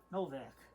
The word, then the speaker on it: Nowak: Novak. The W is pronounced like a V in Polish.